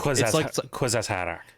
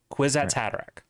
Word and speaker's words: Kwisatz Haderach: No, it's Quiz at Kwisatz had a rack. Kwisatz Haderach.